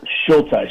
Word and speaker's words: Schultheis: Schultheis, yes, sir, absolutely. Schultheis.